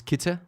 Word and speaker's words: Kitze: Yeah, it's the correct pronunciation is Kitze.